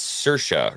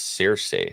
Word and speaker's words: Saoirse: Oh, it's Saoirse Ronan. I thought it was Cersei. Oh, Cersei. There's another Irish lady who pronounces it differently with the same name.